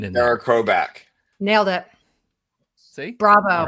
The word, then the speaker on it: Chrobak: That's why I put the production the the pronunciation in there. Cara Crowback.